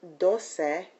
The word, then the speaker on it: doce: For example, if we look at dos and doce, if I don't pronounce doce with that final syllable, I could be confusing 2 with 12.